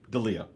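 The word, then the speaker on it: Delija: against, uh, well, uh, how do I pronounce and I'm embarrassed, actually. Delia. Dia. Dia. Ante Dia, right?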